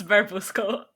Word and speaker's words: Barbusco: And what is your team name, just so that I have the pronunciation correct? Barbusco. Yeah, it's Barbusco.